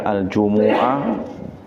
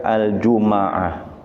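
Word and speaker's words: الجمعة: Jumuah bisa dibaca aljumuah boleh dibaca aljumaah. Boleh dibaca sukun mimnya. Eh boleh dibaca domah. Boleh dibaca sukun juga boleh dibaca fathah. Aljumuah. Aljumah wal jumaah. Ada tiga cara bacanya.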